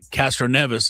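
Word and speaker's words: Castroneves: But Castro Neas is Spider-Man. Thank you for pronouncing it right.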